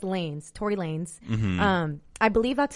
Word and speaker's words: Tory Lanez: first ask so it's Tory Lanez not like Tory Lana's I thought it was Lana's I feel like that's how you pronounce it in Spanish like Lana's but it's lanes Tory Lanez I believe